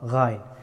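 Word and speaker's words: غين: Gha, gha, gha, ghain. The letter of ghain pronounced from upper part of the throat.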